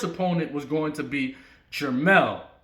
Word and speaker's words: Jermell: was going to be Jermell, not Jamal, Jermell, which is Little Charlo, the one that's spelled with the E, not the A.